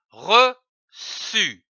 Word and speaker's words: reçu: Nous avons vu la syllabe su. C'est dit U, su. Prenons une autre syllabe comme par exemple re, R-E, re. L'association de ces deux syllabes donne le mot reçu, comme un reçu.